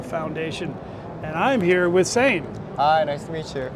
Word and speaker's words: Sein: sure I got it he said like insane and I said yes